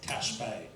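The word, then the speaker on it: Ta' Xbiex: an example up there I was pronouncing for seven days straight T IEX um and then on the last day the taxi driver corrected me that it's Tash Bay so I wasn't I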